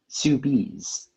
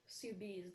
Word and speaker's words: soubise: Your word is soubise. Soubise definition.